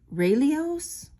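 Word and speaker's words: Relios: it is on a i think it is pronounced raelios it's um r-e-l-i-o-s 925 so this was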